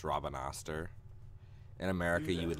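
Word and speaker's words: Rabanastre: this game is how the main city is pronounced Robin Astor in America you would like never pronounce it Robin Auster the way it's spelled American English as I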